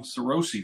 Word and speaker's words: Sarosi: I've got a special guest with us Tom sárosi that I pronounce that right yep that's right I hate